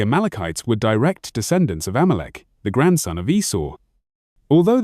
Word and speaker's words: Amalek: In Hebrew, it is pronounced Amalek, and the term appears frequently in the Hebrew and Aramaic scriptures as the name of Israel's most persistent enemy.